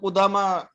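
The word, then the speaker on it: قدامى: এটা এই ইয়াটা হলো এটা আলিফ মাকসুরা, এটা আলিফের মতো উচ্চারণ হয়।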